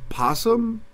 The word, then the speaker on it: opossum: Yeah, I always thought it was like opossum. You know how like it's spelled with an O, but everybody just says possum?